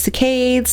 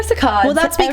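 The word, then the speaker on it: saccades: Different people pronounce it differently. say cicades or sakad time when we used to talk about this and we used to only say cicades people would be like oh but I say sakad is that the same thing is just so somebody's going to get mad at you for that um however you want to pronounce it is fine um this is the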